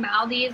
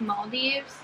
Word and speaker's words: Maldives: been saying it wrong I think we've been saying Maldives and I think it's Maldives males it so pretty